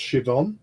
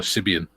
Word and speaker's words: Siobhan: Julian says Siobhan is pronounced Siobhan. Yes. Same reason, Tiff. Irish Gaelic. Mhm. We had a Siobhan in our class. We used to call her Cibian.